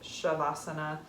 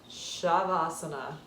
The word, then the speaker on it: savasana: into it meaning corpse asana meaning poser seat shavasana spelled s-a-b-a-s-a-n-a in sanskrit um pronounced shavasana everybody's favorite time of class it's your final